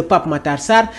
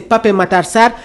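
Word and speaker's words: Pape Matar Sarr: Bapom lors d'une interview au lieu de pape Matarsar le joueur sénégalais aime prononcer Pap Matarsar qui revient dans cet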